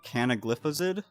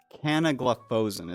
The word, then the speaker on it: canagliflozin: Um a popular one would be canagliflozid. I think that's how you say it. Canagliflozin is how they say it.